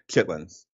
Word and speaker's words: chitterlings: as a child was it's chitterlings, but it's pronounced like for us chitlins.